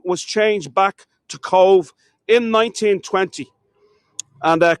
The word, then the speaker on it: Cobh: And the name was changed back to Cobh in 1920. And Cobh is the Gaelic name. C-O-B-H is the Gaelic name in the Irish language for the English name C-O-V-E. But it has the same pronunciation.